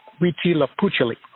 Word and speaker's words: Huitzilopochtli: It's hard to pronounce, but it's Huitzilopochtli.